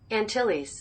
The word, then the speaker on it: Antilles: Antilles. Antilles. So the island Carib, people of the Lesser Antilles, from whom the word cannibalism is derived, acquired